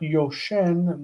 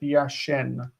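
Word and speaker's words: יָשֵׁן: So sleeping is not yoshen, but yashen, sleeping.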